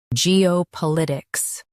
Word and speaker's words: geopolitics: Now read the syllables shown on the screen naturally. G, O, pol, I, ticks. Geopolitics. Stress pol and keep itics light.